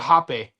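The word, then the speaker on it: rapé: So it's spelled R A P E, but it's called hape.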